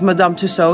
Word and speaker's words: Madame Tussauds: hard really hard so madame tusso by the way we pronounce it as madame tussaud here in holland so that's what i'm